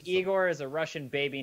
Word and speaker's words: Igor: engi are also famous bears the Russian composer Igor Stravinsky and if you never let us have